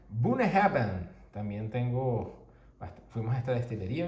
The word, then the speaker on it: Bunnahabhain: Esto se pronuncia Bunnahabhain.